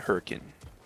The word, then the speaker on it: Hurricane: there's a city there it's spelled a hurricane but it's called hurricane this